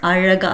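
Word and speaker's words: அழகா: And Araga, though in English we say Azhaga, it's pronounced as Araga.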